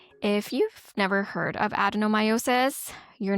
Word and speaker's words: adenomyosis: Kind of sounds like endometriosis, and actually it hangs out quite often with endo, but it is different from endo. We're talking about adenomyosis.